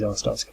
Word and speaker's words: Arstotzka: We're rolling in Arstotzkan passports. I think you meant to pronounce it Arstotzka.